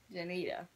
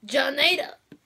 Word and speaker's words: Genita: Genita. Yeah. No, you said it wrong. It's Genita.